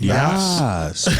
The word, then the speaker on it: Yass: To gut public education, spearheaded by future Trump cabinet member Jeffrey Yass, I believe. Is that how you say it? Yass.